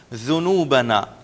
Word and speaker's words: ذنوبنا: ذنوبنا چونکہ ہم پہلے بھی پڑھ چکے ہیں، ذال میں اگر ابھی بھی آپ کے تلفظ میں ذنوب آپ کہہ رہے ہیں، ذال پر زور دے رہے ہیں، تو اسے ابھی پھر انڈر لائن کر لیں، ذنوبنا ذال پہ بالکل ہم زور نہیں دیں گے.